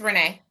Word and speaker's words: Renee: And that's when I would come back at, and let me get it right, Renee or Arena. Let me get it right. It's Renee.